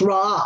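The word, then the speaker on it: ראה: It's pronounced Ra'ah, R-A-A-H.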